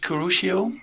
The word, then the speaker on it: Kurushio: you choose this name for yourself um i pronounced it kurushio and it's um actually a bit of a